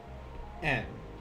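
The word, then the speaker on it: 円: Our next one, our next kanji will be yen, or as it's pronounced in Japanese, en.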